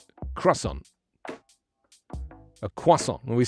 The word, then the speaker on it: croissant: we say croissant a croissant when we say croissant do you say croissant croissant croissant but in england we don't even say the r we say quasa so we leave out the r correct it should be